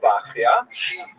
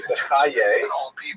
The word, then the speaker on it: Bachya: The customary pronunciation is Bachya, but it's not a regular spelling at all. Bachya would be something like Beit Yud Hey, like Bachya. Some people also say Bechaye, which is also not exactly right.